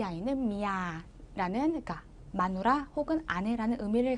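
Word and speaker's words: เมีย: 그러면 읽을 때는 자, 장모음 길게 미야라고 발음을 해주시는 거예요.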